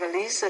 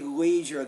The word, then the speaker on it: leisure: at night to have Elisa time with my family yeah you definitely want to say Leisure there that's causing some trouble